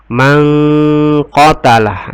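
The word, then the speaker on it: مَنْ قَتَلَ: Mangqatalah, ini hukum bacanya adalah ikhfa. Kenapa ikhfa? Karena nun sukun ketemu dengan qa. Cara membacanya dengan berdengun. Mangqatalah, ya, didengunkan.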